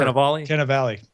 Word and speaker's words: Cannavale: Cannavale.